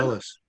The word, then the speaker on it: Dulles: If Bruce is still here, I would ask him what is the correct pronunciation of this word. Dulles. Pardon? Dulles.